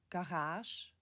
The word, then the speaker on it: Garage: Dans les emprunts français en âge, le G est prononcé comme ch dans chat. Garage, garage, massage, message.